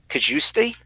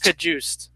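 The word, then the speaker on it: Cajuste: Kajust. I believe it is. Like the guy in Hard Knocks.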